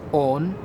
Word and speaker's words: one: the first being that the word one at the time was pronounced own and secondly in certain